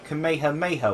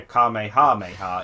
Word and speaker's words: Kamehameha: gonna be named yeah it's actual pronunciation is the Kamehameha wave rather than you know Kamehameha it can make her